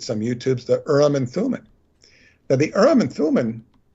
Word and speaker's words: Thummim: Now, but what's very interesting about Thummim, if you phonetically break it down in thum and thumb, it's very much related to thumb or thimble.